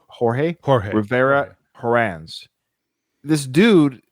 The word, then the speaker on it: Jorge: by a guy named I think it's pronounced yor it's jge o r Jorge jge Rivera Horan this